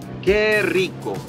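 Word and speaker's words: ¡Qué rico!: Que rico.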